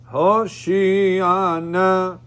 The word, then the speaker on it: Hoshiana: In Hoshiana and Atzlichana, many times people make mistakes. Anna Adonai Hoshiana. Now, where did I put the emphasis? On the shin. Hoshiana. Right? You're not supposed to sing it Hoshiana.